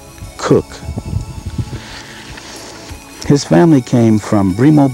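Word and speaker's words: Cocke: Philip St George kooch although this day and age the name is pronounced cook his family came from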